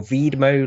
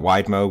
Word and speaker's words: Widmo: to this these people wid mode lens or vide mode lens adapters for the rift so so it's a published company you know I think we would call it wide mode wit mo but I asked them for the